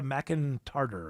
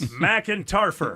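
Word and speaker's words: McEntarfer: Erica McIntarter or something like that. McIntarter? It's hard to pronounce. McIntarfer, that's what it is. But there's an F in there.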